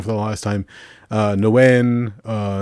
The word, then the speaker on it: Nguyen: Nguyen, Nagoon, just whatever pronunciations, but you have to be very careful because, like, my phone, it's slightly racist. But the only thing I know is the G is silent.